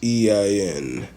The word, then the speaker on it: Khusein: I believe that's how it's pronounced. It's Khusein. Hussein Askabov.